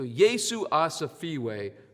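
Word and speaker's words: Yesu asifiwe: rhymes with ah uh sounds like freeway without the r ah safeway so yeesu asafeewi means praise jesus you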